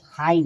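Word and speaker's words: high: देखिए, जब GH के पहले कोई वॉइस यानी स्वर आए तो GH साइलेंट होता है। जैसे देखिए HIGS हाई, देखिए GH के बाद क्या है, आई आया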